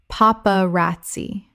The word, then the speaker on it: paparazzi: yuvra ovra Word 139 paparazzi Common mispronunciation paparazzi Correct pronunciation paparazzi Four syllables with the stress on the third. The z makes a ts sound in Italian.